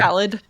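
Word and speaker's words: Ballade: then four had um I think it's spelled uh ballet but it's supposed to be like ballet ballad yeah um so this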